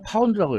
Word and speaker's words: lb: 암튼 그리고 힘의 단위는 쓰기는 lb라고 썼는데 읽기는 파운드라고 읽어요 이건 이제 그 라틴어인 리브러